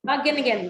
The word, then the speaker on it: Wageningen: Wageningen University. Wageningen University, thank you.